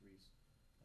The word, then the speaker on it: Reese: According as far as the pool wise, Mike Reese, I know it looks like Ruiz the way it's spelled, but it's Reese.